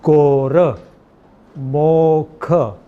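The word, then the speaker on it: ਗੁਰਮੁਖਿ: This is gaga, this is onkar, so it's pronounced gor, mokh. This Sihari is silent. It is not to be pronounced as gormukhe. It is gormukh.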